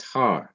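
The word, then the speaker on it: הַר: har meaning mountain so notice that har starts with a consonant hey that is h and it is followed by the vowel pathak that is ah as in and it ends in another consonant that is mountain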